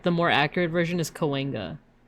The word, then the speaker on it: Cahuenga: It's Cahuenga. I would pronounce that as Cahuenga with all the letters. Because it looks like it would be pronounced as like Cahuenga, right? But it's almost like a W sound.